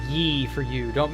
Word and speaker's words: Ye: Sir, it's Yee for you. Don't mispronounce.